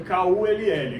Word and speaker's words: Kull: Se escreve Kull, que se eu falo Kull aqui, parece que eu estou falando palavrão.